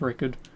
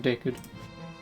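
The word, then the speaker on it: Ricard: I actually do think it is pronounced Rickard. Like, I'm not trying to screw anyone over, that's why I've been calling him Dickard.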